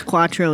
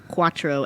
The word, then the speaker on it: cuatro: had a coffee called cuatro and it is in fact c-u-a t-r-o it doesn't sound that way at all all right well okay okay so basically the c is kind of like a queue though yes because it's